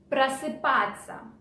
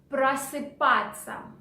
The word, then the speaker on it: просыпаться: Okay, and the first phrase for today is просыпаться, which in English is get up. Okay, let's repeat the word again. Просыпаться. Просыпаться. Okay, but one more little thing. Ся we pronounce in spoken language like ца.